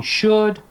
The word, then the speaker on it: should: could if you're teaching should could would if you're not telling your students that L is silent you're not doing your